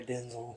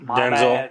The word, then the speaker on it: Denzel: Freeman at oh yeah Denzel you're the one that always yells at me for saying it wrong denel Denzel Washington Denzel yeah we just need to